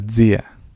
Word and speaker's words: zia: tiene S impura, la zia, que como sabemos, la Z se pronuncia como si fuera una S y una D, o una S impura.